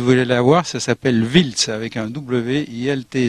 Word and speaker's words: Wiltz: jouer demain s'il voulait la voir ça s'appelle wiltz avec un wlt z et donc je le